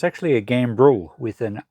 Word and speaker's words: gambrel: this I did check the name I was mispronouncing it it's actually a game rule with an R so gam b r e l and it's for hanging up a carcass by